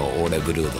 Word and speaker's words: Ole Børud: みてくださいこのオーレブルードさんなあブルードオーレブルードブルードオーレブルードって読むんですなんかノルウェ語なんで王にこう斜めに線が入ってん